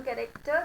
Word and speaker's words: character: लेकिन जब हम कैरेक्टर की बात करें तो पीछे वाला हम साइलेंट करेंगे because it is after a vowel. लेकिन ये वाला जो आर फर्स्ट है we will not make it silent क्योंकि ये आर से पहले आ रहा है. Very good. So the pronunciation is करेक्टर.